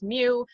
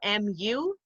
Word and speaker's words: mu: see here if you don't know how to pronounce mu it's spelled m u um but it's not mu it's mu so